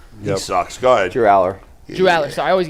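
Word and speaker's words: Allar: Number 2, Drew Allaire, Penn State. He sucks. Go ahead. Drew Aller.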